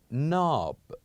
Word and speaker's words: knob: and we said that we usually in English when we have words that starts with K and N we usually keep the K silent as in we have